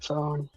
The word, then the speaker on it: pho: Now, this kind of basil is good in spring rolls, in the pho soup. It's spelled PHO.